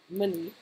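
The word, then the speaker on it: Munny: Money. It's spelled M-U-N-N-Y.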